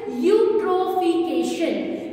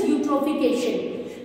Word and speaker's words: eutrophication: Its pronunciation is eutrophication. Its pronunciation is eutrophication.